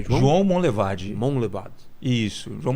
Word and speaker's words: Monlevade: João Monlevade. Duvido se eu conseguir pronunciar corretamente. João primeiro. Monlevade? É. Não, não é? Foi meio que um sotaque aí. Mas como que é? João Monlevade.